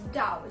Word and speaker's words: dao: one was hanging opinion which spells dao with d however according to some articles that i've read as well as um some videos that i've watched it should be pronounced as dao so it should be